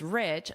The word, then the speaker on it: rich: I guess a high amount of wealth describes someone who is rich, so perhaps that definition still remains.